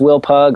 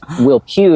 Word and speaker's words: Will Pugh: But um it's Will Pew is how you say my name.